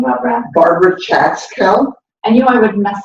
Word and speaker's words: Barbara Chatzkel: Barbara Chatzkel.